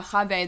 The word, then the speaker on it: Chava: They were saying Kave yesterday. Kave. Yeah, Chave. That's how you say it.